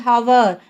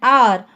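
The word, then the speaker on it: hour: Don't say as hover. Say as an R. What is the sound? Here the H at the beginning of R is silent. The H sound is silent.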